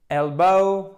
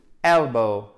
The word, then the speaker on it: elbow: vous avez dans shoulder, elbow, elbow, elbow, elbow, elbow. Faites bien l'accent tonique sur la première syllabe. Elbow, le coude, elbow.